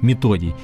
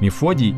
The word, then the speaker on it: Методий: В Советском Союзе авторами языка и его алфавита, кириллицы, считались известные всем братья Кирилл и Методий. Именно так правильно говорить. Мефодий – это неправильный перевод с греческого языка.